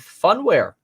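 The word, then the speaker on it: Phunware: lot of fun with funware. Holy moly, you got to be kidding me. Funware, funware spelled with a P and an H.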